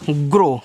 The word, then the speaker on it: grow: देखो आगे है GROW, तो इसको पढ़ते हैं ग्रो, क्या पढ़ते हैं, ग्रो पढ़ते हैं, यानी कि OW का उच्चारण यहाँ ओ की मात्रा के रूप में आपका हुआ है।